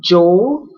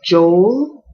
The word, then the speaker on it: Joel: It can be Joel, like Joe with an L, Joel. Or some people say Joel.